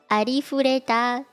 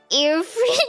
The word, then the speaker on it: Arifureta: At least try to pronounce it like in Japanese. Like, arifureta. It cannot be that hard. Arifureta. Earfree.